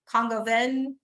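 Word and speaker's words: coq au vin: But this one was and I don't say it right because I think I always want to say AU as AU, but it's Congoven.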